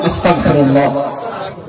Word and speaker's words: আস্তাগফিরুল্লাহ: মানুষটার ঈমান নষ্ট হয়ে যায় আল্লাহ ক্ষমাশীল বলুন আস্তাগফিরুল্লাহ এটাও আমরা সঠিকভাবে উচ্চারণ করি না আর দন্তস ককার আস্তাগ আর